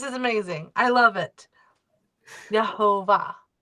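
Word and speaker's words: יהוה: So again, accent at the last uh last syllable.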